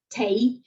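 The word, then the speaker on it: τῆι: assembly, the ecclesia, and you will find edoxe tei ecclesiae. So edoxe, it seemed, that is, it seemed good to the assembly, and the tei is tau, eta, iota, adscript iota.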